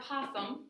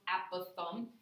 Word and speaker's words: apothem: plan so some vocabulary and apothem sometimes pronounced at both thumb is that perpendicular segment